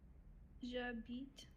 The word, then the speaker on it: J'habite: But because we have more letters in that word, then this E here is silent. So we'll put it in gray.